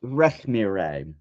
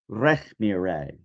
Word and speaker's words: Rekhmire: It's pronounced Rekhmire. Rekhmire.